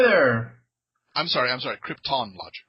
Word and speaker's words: Kryptonlogic: I'm sorry I'm sorry Krypton logic Krypton not right not Marlin Brando's pronunciation not Krypton Krypton Krypton I apologize that's cool